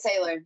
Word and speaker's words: Saylor: I've probably butchered the name for once. So Saylor, yeah, you got it.